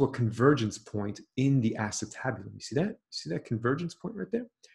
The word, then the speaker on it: acetabulum: Great word. Acetabulum. 5 syllables. Good word. Study it. Acetabulum.